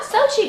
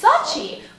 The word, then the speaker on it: Sochi: I found on Twitter about how does it pronounce it Sochi it's not Sochi guys it's Sochi we learned something here today at least I